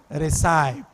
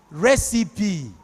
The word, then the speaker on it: recipe: I pronounced it as recy that was how I pronounced it that's how a lay man not ordinarily that's what you should pronounce or recip is it not but that thing is pronounced recipe have you heard somebody